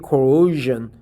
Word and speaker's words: coercion: So it's a shun, not zen, not zhen, but coercion, right?